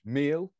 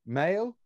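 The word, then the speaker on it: Maël: I could pronounce it as we read it, which would be in English, meal, but I'm saying male.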